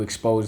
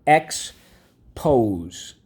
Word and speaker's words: expose: to the sun okay expose let's go x pose expose first syllable x second syllable pose x pose we have one two three things to mark up underline the o second sound on the line the silent e twice drawing arrow back why because in this case the silent e makes the o say o so let's review these